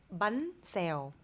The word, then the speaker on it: bánh xèo: Bánh xèo. Bun sale.